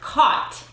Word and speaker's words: caught: what that word is it's got some silent sounds silent letters caught don't get caught uh oh